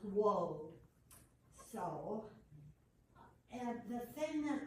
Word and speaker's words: Waud: And I thought his name was always pronounced Waud, but it's Waud.